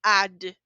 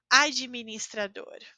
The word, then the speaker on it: administrador: que eu falo administrador Eu não falo AD eu falo ade administrador isso vale para as